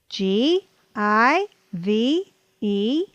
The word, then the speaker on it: give: believed believed here are two more words that do not follow the two vowel rule l i v e live live live g i v e give give give now